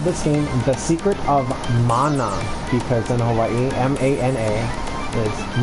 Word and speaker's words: mana: And it's pronounced mana, not mana.